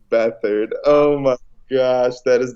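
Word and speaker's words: Beathard: entire year like CJ beat hard haha so I'm like how do you actually pronounce it okay it's battered oh my gosh that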